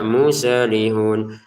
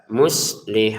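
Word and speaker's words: مصلحون: Jangan dibaca muselihun musel enggak ada e di sini. Bacalah dengan jelas muslihun gitu ya.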